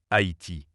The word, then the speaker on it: Haïti: En effet, la graphie Haïti correspond mieux aux règles du français, le tréma indiquant que le A et le I se prononcent distinctement Haïti, là où Haïti avec le Y pouvait prêter à confusion.